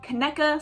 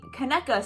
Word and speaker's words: Conecuh: you guys have any Conecuh sausage? And he's like, oh, Conecuh, yeah. And he showed me to it, and I was like, oh, it's pronounced Conecuh, like Hanukkah, but with a K.